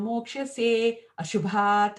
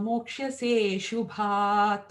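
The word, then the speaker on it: मोक्ष्यसेऽशुभात्: We are not supposed to pronounce that A. Because again, if you pronounce the A, what are you doing? You're introducing a vowel. You're introducing a syllable. And that throws the whole pattern off. So if you were going yajñātva mokshase ashubhat, it doesn't even fit. So yajñātva mokshase shubhat.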